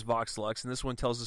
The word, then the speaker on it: Vox Lux: Swan 2 with Joel how would you pronounce this is it Vox luxe yeah box luck okay I didn't know if there was like any accident or whatever but um this one is Vox luxe and this one tells